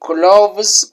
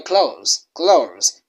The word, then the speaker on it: clothes: Some of them you will find leading badly like you can say cloves clo and that's not it. That's not the way it's related. You close clothes because we lead from you can find